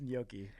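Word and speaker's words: gnocchi: Uh, but I'm disappointed in you as an Italian because I believe it's pronounced in Yoki.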